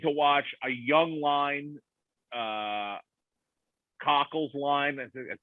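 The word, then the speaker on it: Kakko: But they've been it's exciting to watch a young line, Cockle's line.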